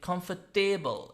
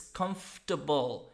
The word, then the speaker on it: comfortable: here significant because I've heard many Isles candidates pronouncing comfortable it's not payable it's comfortable it's stable for instance vegetable that's incorrect the